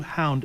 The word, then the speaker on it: Hownd: Hound is spelled HOWND, and it's going to be helping Tucson locals to patronize local businesses by directing foot traffic based on your GPS location through the Hound app.